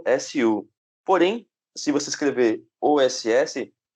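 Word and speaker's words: 押忍: O OSU, ou OSS, você pronuncia, né, geralmente com o som do S, o U fica mudo.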